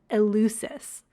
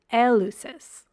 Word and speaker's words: Eleusis: in North American English we would pronounce the Sacred City I'm talking about today as eluis whereas in Greece they pronounce it Elis so like take your